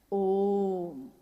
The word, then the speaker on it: ओम: हुई उस ध्वनि की आवाज थी अ उ म अगर एक साथ सुना जाए उसको तो उसकी आवाज गूंजती हुई ऐसी है जैसे हम बोलते हैं या उच्चारण करते हैं तो हम कहते हैं ओम है वो अ उ